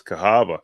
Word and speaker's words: Cahaba: Is that how you pronounce that? Cahaba? That is Cahaba.